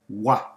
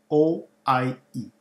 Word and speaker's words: oie: The word for goose in French is oie. And it's spelled O-I-E. Oie. Oie. Oie. Not an easy pronunciation, but a great challenge.